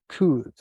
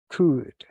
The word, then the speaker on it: could: may might and could let's pay attention to the pronunciation may like the month might and could I'm not pronouncing the letter L could so what is possibility